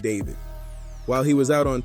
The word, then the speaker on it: d4vd: by his stage name D4 VD, pronounced David.